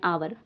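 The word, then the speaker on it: hour: इसको हावर नहीं पढ़ेंगे हम। हावर गलत हो जाएगा क्योंकि इसमें एच साइलेंट है। क्या है इसमें? एच इसमें साइलेंट है। तो इसको तो बच्चों इसको हम पढ़ेंगे आवर। एच साइलेंट है। एच हम नहीं पढ़ेंगे।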